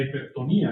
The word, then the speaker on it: hipertonía: La hipertonía exactamente sería porque tiene se disuelve el bitongo con el acento en la i.